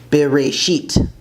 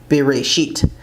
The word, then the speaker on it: בראשית: So Genesis is Bereshit, in the beginning, Bereshit.